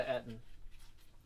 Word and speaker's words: Eton: No, I didn't go to Eton. Yeah, that's how that's pronounced.